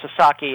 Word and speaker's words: Sasaki: And uh Joshu Sasaki, and I should uh make it clear, it's it's pronounced Sasaki.